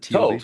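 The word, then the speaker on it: טוב: Is it tov? Is that how you pronounce it? Tov? Tove.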